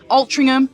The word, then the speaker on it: Altrincham: Altrincham, that's the way you pronounce it.